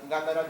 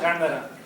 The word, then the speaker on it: Gandara: Gandara is the accent on the first A. There's an Okay. accent on the first A. Gandar, what? Gandara.